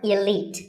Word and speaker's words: elite: Number 48 is the word elite. Actually, there are two correct pronunciations, elite and elite. Both are okay, but just don't say elite. There's no light in elite.